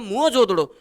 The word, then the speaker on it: मोहनजोदड़ो: हड़प्पा एवं मोहनजोदड़ो को, जिसका सही उच्चारण है मोहनजोदड़ो को, हमने पाकिस्तान को देकर जो कुछ खोया वो अकेले बैराट या विराट नगर में पा लिया था।